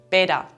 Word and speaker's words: Peter: sounds like "budel" or the name Peter often sounds like "Beda" in dialect.